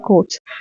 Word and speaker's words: chord: Just in Sri Lankan pronunciation, we are using chord for everything. C-O-R-D, C-O-D, everything are chord. Actually, the pronunciation would be chord.